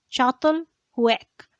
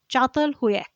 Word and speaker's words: Çatalhöyük: Çatalhöyük. Çatalhöyük is spelled as Catalhuyuk. It is spelled as Katalhuyuk, but it is pronounced as Çatalhöyük.